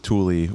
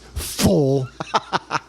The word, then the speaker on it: Thule: But also in the 90s when Yakima and Thule were charging $450. You're saying it wrong. It's full and Yakima.